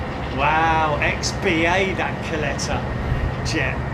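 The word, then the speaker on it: Kalitta: Kleta as I call it as it's pronounced correctly. not Khalita as I used to pronounce it way back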